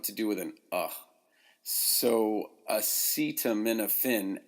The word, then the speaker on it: acetaminophen: do with him so acetaminophen actually begins with what's called a schwa it's an upside down e if you look